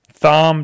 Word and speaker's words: Thom: and show you guys Tom just text just just tweeted at me and said as much as I love you reading my comments my name is pronounced Tom if I read it